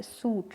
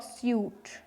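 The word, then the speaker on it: suit: Business में देखिए यू जो है आई में कन्वर्ट हो गया है, और सूट, इसमें देखिए आवाज़ ऐसे आ रही है, सूट नॉट स्यूट।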